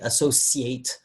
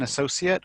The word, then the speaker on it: associate: Like he's an associate, or do you associate with that? But in both cases, though, he uses a s. Associate. And Americans will often use a sh.